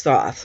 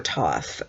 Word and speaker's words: Thoth: book of thoth taro who is Thoth or tough depending on how you want to pronounce it Toth is the Egyptian